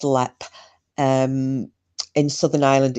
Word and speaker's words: Leap: have been held at lep castle it's it's spelled leap but it's pronounced lep um in southern ireland